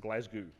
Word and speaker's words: Glasgow: Now, I have lived in Scotland, and you actually pronounce it Glasgow.